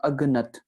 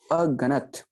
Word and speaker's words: अगणत: यहाँ पर हम उच्चारणता अक्सर औकात कर बैठते हैं अगनत, ठीक है। अगनत कहा जाए तो एक गलत उच्चारणता है। यहाँ पर बात हो रही है नाम जपत अगणत, ठीक है। अ पर थोड़ा सा ब्रेक, फिर गणत को साथ उच्चारण करना है, ठीक है।